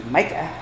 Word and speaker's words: Micah: That's Micah, not Mickey.